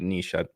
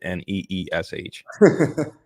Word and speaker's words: niche: the way that's that's that is how you pronounce it Niche ask chat GPT and they put nees so I lost there hear say Niche and I'm like okay sounds a lot better